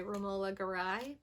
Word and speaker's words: Romola Garai: I watched Amulet from 2020, directed by Romola Garai, I think is how you say her name.